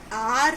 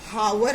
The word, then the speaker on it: hour: The sound of it is are late. It is not hour late. It is are late, where the sound is coming are, a sound, and a comes under the category of vowel sound.